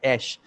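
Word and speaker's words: אֵשׁ: And when you remove the God component out of it, from ish, it is pronounced as esh.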